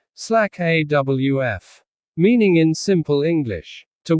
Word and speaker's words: slack off: The word slack sounds like slake. The word off sounds like awf. Together they sound like slack awf.